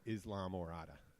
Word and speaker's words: Islamorada: in Morada but when anybody asked how to pronounce Murata and they send them and they're going down there I tell them Islamorada well that is how you say it in